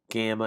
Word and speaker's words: gamma: But normally the gamma is a got, a hard G is normally how that works.